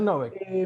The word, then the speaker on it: Novek: ¿Y el apellido es Así Novek como se lee. o Novek? Acentúan la O. Bien, es Novek.